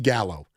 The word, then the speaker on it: Gallo: It's just how easy that how as the dumbing down that we do as men because god forbid you know gallow is two syllables as I learned today thanks to the great